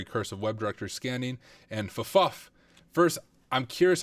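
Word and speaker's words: ffuf: So on this login screen, Big Beef said Fuff is the correct pronunciation.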